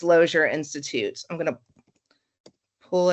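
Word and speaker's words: Lozier: Kenyon, it's Loier Institute. I'm going to pull it. It's Loer Institute is spelled O I O L O Z I E R institute.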